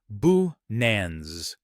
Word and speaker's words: Binance: The most widely accepted pronunciation is Binance. You can break it down phonetically as B-A-Nens. Notice that this version places stress on the second syllable, pronounced as Nance.